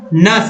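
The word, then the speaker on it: gnash: अब देखिए किसी वर्ड के शुरू में अगर GN आए तो जी का उच्चारण नहीं करना, जैसे GN से स्टार्ट हो रहा है लेकिन पढ़ना है नस, NASH, नस में गुस्से से दांत पीसना।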